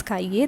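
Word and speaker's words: cahiers: Okay, and cahier becomes cahier, that is, the pronunciation remains the same but an extra s is added over here.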